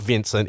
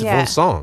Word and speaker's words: Vincent: guy's actually French and his name's not Vincent it's vong yeah um so complely